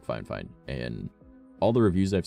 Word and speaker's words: FIFINE: it like fifine or Phi fine it's it's fine fine even though there's not an extra NE yeah definitely an awesome